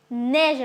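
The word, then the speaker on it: neige: அடுத்தது நேஜ். இதில் பார்த்தீங்கன்னா ஏவும் ஈயும் சேர்க்க ஏ என்ற சவுண்டு போடும். அதனால நேஜ் என்று சொல்லுவோம்.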